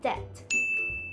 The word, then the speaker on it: debt: ะ ค ะ ห รื อ ว่ า debt ไ ม่ ใ ช่ น ะ ค ะ แ ต่ เ ร า จ ะ อ่ า น ว่ า debt debt น ะ ค ะ He is so